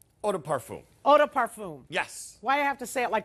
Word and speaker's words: eau de parfum: you are getting the full bottle of the oh day parfum eau de parfum eau de parfum yes why i have to